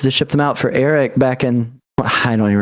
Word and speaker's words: Erek: Oh, that's Eric. How do you say it? Erect?